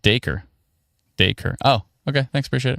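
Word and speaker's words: Dacre: Oh, it's pronounced acre with a D in front. Daker.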